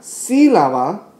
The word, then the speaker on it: sílaba: Entonces, en la palabra sílaba, oímos la I más.